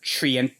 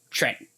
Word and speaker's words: Trent: No, I didn't misspell it. It's not Treant, it's Trent.